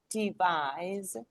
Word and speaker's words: devise: exactly nice well done word stress advise where is the stress on I from I I is a strong syllable and it gives you the z sound advise is the strong syllable and then you go devise is a strong syllable it's stressed and that's why you underline kind of you single out this s into Z and you can hear it advise devise but practice where is